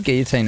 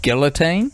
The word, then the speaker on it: guillotine: I'm a big fan of guillotine as a pronunciation. That's how we were taught as um Kiwis. But probably the correct way is guillotine, right? Cuz it's the Is that the French? I the French word.